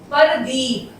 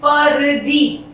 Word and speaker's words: प्रदीप: इसे हम पढ़ेंगे परदीप, पर असली उच्चारण उसका होता है प्रदीप, पै में रह को जोड़ के बोला जाता है।